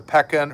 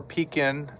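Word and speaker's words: Pekin: It is the peckin or peacin, depending on how you say it, tomato, tomato. Um, this is the Aflac duck.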